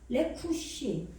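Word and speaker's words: רכוש: 아시겠죠? 레쿠시. 장음으로 발음이 나는데 요게 재산, 재물.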